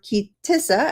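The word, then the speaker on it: Ki Tisa: As a matter of fact, for the next 5 parshiot, including Teruma, Tetzaveh, a good part of Kitese, or Kitissa, as some would pronounce it, Vayakel, and Pekodeh, this is the primary topic of the Torah's narration.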